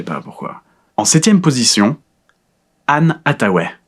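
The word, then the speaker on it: Anne Hathaway: En 7e position Anne Ataw, c'est comme ça qu'on prononce Ann Ataw.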